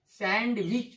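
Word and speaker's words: sandwich: इसे अक्सर देखा गया है कि लोग अशुद्ध पढ़ते हैं। देखिए इसको सैंडविच पढ़ते हैं, है ना, जो कि गलत है।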